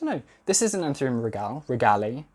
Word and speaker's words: regale: This is an Anthurium regale. I think regale is what I've been told to say it like.